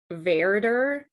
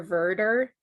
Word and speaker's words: Werder: strong supporter of the, it's pronounced Werder or Werder, but it's spelled with a W.